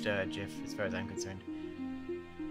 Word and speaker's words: Jif: It's pronounced Jif, it's not pronounced Yif, or GIF, or it's just pronounced Jif, as far as I'm concerned.